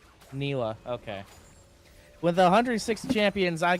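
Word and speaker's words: Nilah: Uh Nalia. Thank you. Nila. Nalia. Nila. Nila. Yep. Nila.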